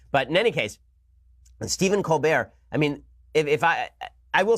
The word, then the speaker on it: Colbert: My understanding is that Stephen Colbert actually changed the pronunciation of his name in college. This is the rumor that was going on, is that Stephen Colbert is actually pronounced Stephen Colbert. And he actually changed it to Colbert because it sounds more sophisticated.